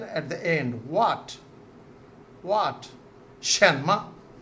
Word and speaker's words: 什么: Shenma. The meaning is written at the end. What? What? Shenma. Shenma. So here we can see Shen is in second tone. Ma is in neutral tone.